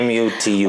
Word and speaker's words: Mutum: Is that how you pronounce it? Matum. Yeah, Mutum.